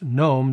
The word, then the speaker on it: gnome: And as an aside, I'm well aware that the word GNOME is pronounced GNOME, the G is silent, but when it comes to the desktop environment that's spelled the same way, it's actually supposed to be pronounced GNOME.